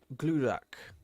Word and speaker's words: Glurak: Glurak. That's how I'm saying it correctly, by the way, which sounds more intimidating.